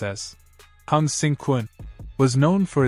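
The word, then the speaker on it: 鴻勝館: The Hung Victory Kun, pronounced as Hung-sing Kun, was known for its focus on highly effective and practical hand-to-hand combat and weaponry.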